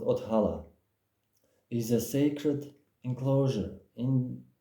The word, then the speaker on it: othala: It's pronounced othala.